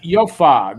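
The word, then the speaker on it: Jofa: it oh okay andrew it's swedish it's pronounced yofa the yofa bucket they were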